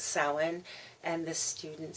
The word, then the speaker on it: Samhain: We call it Samhain. Even though it is spelled Samhain. And this student very cavalierly said, Samhain, I think is how it was pronounced. And I corrected and said, no, it's Samhain.